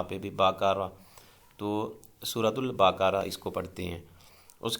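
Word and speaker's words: البقرة: کو کہا جاتا ہے۔ یہ بقرہ نہیں ہوتا، کچھ اسٹوڈنٹس جو ہیں وہ تلفظ کی غلطی کرتے ہیں، جب اس کو پڑھتے ہیں تو سورۃ البقرہ۔ بقرہ جو ہے وہ عام جو بکری اور بکرا، بھیڑ بکریاں جیسے ہم کہتے ہیں وہ ہوتا ہے، یہ لفظ جو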